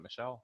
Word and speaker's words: Michel: No, I think that Sony Michel, is that how you say it, Michel? I think that's right. It's not so, Michael, yeah.